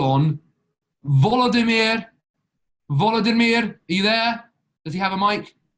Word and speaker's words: Volodymyr: Let's call on Volodymyr. Volodymyr, are you there? Does he have a mic? Yes, I'm here. Hello, Volodymyr. How do you pronounce your name correctly? Volodymyr is okay.